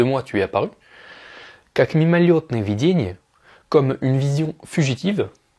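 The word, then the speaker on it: мимолётное: Donc là c'est écrit мимолетное, mais ça se prononce мимолетное.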